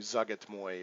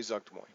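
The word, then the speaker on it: Zuggtmoy: and it's like it I'm saying it wrong it's like Zug it's Moy or something like that but I say suck des moines so if that character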